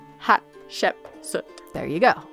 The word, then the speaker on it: Hatshepsut: Hatshepsut. I just mispronounced. Wow. Hatshepsut. Hatshepsut.